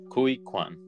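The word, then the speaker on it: Ke Huy Quan: were saying like yeah it's basically how you would pronounce Louie but with a K life with Koy Koy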